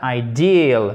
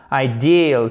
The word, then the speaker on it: ideal: Donc ici, c'est bien I, ok? I, comme quand vous faites mal, ideal, mais faites bien l'accent tonique sur la seconde partie du mot. Ideal, c'est un i long, ok? Donc, c'est pas ideal. En plus, vous avez tendance à faire H aspiré. Il ne faut pas faire de H aspiré.